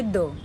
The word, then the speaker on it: the: मतलब कि अगर द के बाद कॉन्सोनेंट साउंड आ रही है तो वो द है, द प्रोनाउंस करेंगे। लेकिन अगर द के बाद वॉवल साउंड आ रही है तो आप उसको दी कहेंगे।